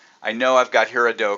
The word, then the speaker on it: Gerardo: But Gerardo, and again, it starts with a G, but it's Gerardo.